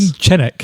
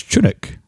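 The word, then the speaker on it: Chinook: You're saying Chinnick. It's Chunuk. Chinuk.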